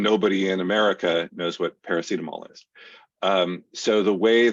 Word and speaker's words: paracetamol: brand is Panadol and I can never pronounce the the but it's um parasimidol is that it paracetamol yeah um so and uh